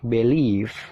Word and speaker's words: believe: persatu Gimana cara bacanya Yang pertama dibaca believe nah di situ dibaca B lele BBE Bel ada tanda petik Nah itu stressing atau penekanan jadi penekanannya itu mengarah ke Le le-nya ditekan ya jadi b-nya itu